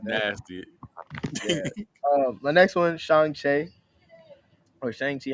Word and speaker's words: Shang-Chi: Because listen, every time I would say it around my sister, it's actually Shang-Chi.